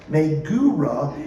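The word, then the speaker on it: מגורה: It's pronounced megura, and it conveys the idea of terror or dread or anxiety.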